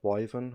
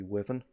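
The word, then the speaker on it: wyvern: of them correctly like i have a tendency say wyven when it's meant to be woven um and i know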